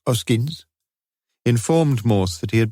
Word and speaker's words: Hoskins: The man, announcing himself as Hoskins, pronounced Oskins, informed Morse that he had been the porter in the flats for just over a year now, 8:45 a.m.